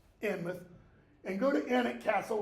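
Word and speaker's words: Alnmouth: the town of Alnwick, Anmouth, A-L-N, mouth, but it's pronounced Anmouth, and go to Alnwick Castle, which is about 5 miles outside of Alnwick.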